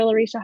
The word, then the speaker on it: Larycia: I'm on Facebook I've actually got two Dr Lisha and Lisha is my personal one